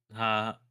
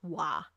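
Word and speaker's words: は: The thing is though, I'm writing it in Romaji, and in Japanese, when you write it in Romaji, even though I put ha, it's actually pronounced wa. Wa.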